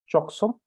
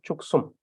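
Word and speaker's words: བཅུ་གསུམ: also be present here, choksum, but normally chuksum. And the k sound is added here because of the rule that tells us that the prefix is added to the first syllable, chuksum.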